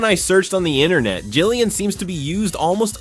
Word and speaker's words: Gillian: I also used to call this character Gerian, not Gilion. Even when I searched on the internet, Jillian seems to be used almost officially, and the character's original name is Jillian.